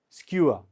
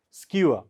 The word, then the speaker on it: skua: here SK W ER skua how do you pronounce it skua skua all of you try it please skua so what does it mean I used to